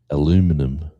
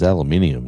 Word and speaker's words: aluminium: and we're talking about aluminum and I said it's aluminium not aluminum. He goes, "It is not aluminium. It is aluminum."